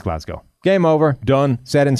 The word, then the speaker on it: Glasgow: Who's the other Glasgow? Is Graham? Ryan. And Ryan Glasgow. Not the way you pronounce it, just isn't, because it's named after a place.